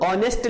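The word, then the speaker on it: honest: बात यह है कि जब हम ऑनेस्ट लिखते हैं, क्या लिखते हैं, ऑनेस्ट लिखते हैं, तो इसका जो प्रोनाउंसिएशन होता है वो आ से स्टार्ट होता है। और आ जो है वो, ये जो साउंड है ये साउंड वॉवेल की है।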